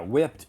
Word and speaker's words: whipped: syllable word yeah yeah whipped even though it has a e even though it has a Ed end even though it has a Ed ending it has a t pronunciation whipped yes both of